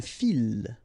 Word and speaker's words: file: Okay, so don't try to, don't mix it with une fille, okay, because you get the double L, but in that case you get only one, so une file, okay, un fil, une file.